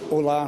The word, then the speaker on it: Ola: So, Ola rhymes with da.